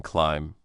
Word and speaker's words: climb: For example, in English, some letters are not spoken, like the K and no or the B in climb.